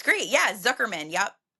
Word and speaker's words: Zukerman: Zuckerman.